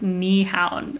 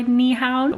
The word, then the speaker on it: Nyhavn: I think it's pronounced Nyhavn.